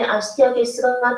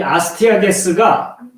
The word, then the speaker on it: 아스티아게스: 예, 이 아스티아게스가 바로 메대인 다리오의 본명입니다. 영어로는 발음하면 아스테이지라고 하거든요. 근데 이제 아스티아게스로 주로 표기를 했습니다.